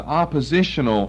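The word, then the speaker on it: appositional: what we call an oppositional structure I've used that word before it's a grammatical term spelled with an A and not an O but it sounds like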